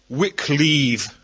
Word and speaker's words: Wycliffe: It rather looks as if in Wycliffe's own day, his name may have been pronounced Wycleve, because his enemies referred to him as Dr. Wicked Believe. So, obviously, you have to get some kind of rhyme there.